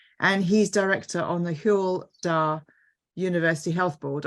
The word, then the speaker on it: Hywel: He's also Honorary Professor at Aberystwyth University, and he's Director on the Hywel University Health Board. I hope I've pronounced that right. Have I, Leighton? Hywel, yeah, that's close enough. Thanks.